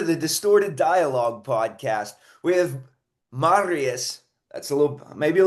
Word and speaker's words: Marius: And welcome to the Distorted Dialogue podcast with Marius.